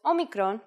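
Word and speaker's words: όμικρον: This is a vowel called omicron, which makes the sound O.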